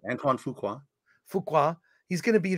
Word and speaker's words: Antoine Fuqua: Is that the correct pronunciation? Yeah, Antoine Fuqua.